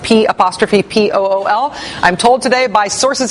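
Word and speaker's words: P'Pool: see there, is pronounced P''P-O-O-L. I'm told today by sources in Kentucky that it's not pronounced Papool, it's pronounced P-Pool.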